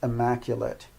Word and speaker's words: immaculate: is an adjective and it's got the sound it at the end rather than ate it's amazing that while